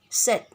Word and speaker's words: said: say a said say pronunciation in english namely said but students pronunciation it would say likewise with the other